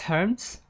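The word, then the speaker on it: Hermès: I think it's Herms, I believe. And it's definitely not French. It's definitely not how French does.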